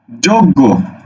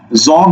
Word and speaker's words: যোগ্য: অক্ষর কয়টা অক্ষর দুইটা এবার দেখো তুমি কি বলছো যজ্ঞ যজ্ঞ তুমি কি যজ্ঞ বলো তুমি যজ্ঞ বলো না বলো কি যোগ্য যৌকার করে যোগ গজ গৌকারে গো তুমি এটা উচ্চারণ করো সুতরাং তোমাকে এখানে যোগ লিখতে হবে যোগ তুমি যোগ বলো জগ বলো না জগ জগ বলো না